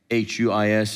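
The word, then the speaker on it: υἱός: The Greek word is H-U-I-S, it's pronounced huis, which means adult, really.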